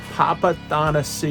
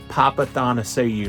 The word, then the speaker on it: Papathanassiou: Houston and this week's interview is with Andy papath see you yes that is how you pronounce it Andy papath seeu now he lets people call him Andy papa